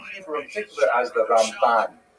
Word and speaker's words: Ramban: in particular as the Raman. There's an N at the end of his name for Rabbi Mosha Ben. Uh to distinguish him from Rabbi Mosha bin Ma. It's not only the uh the Ramban as opposed to the